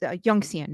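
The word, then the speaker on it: 允贤: I'm going to pronounce it Yongxian. Is that correct? Yes, that's correct. Yongxian.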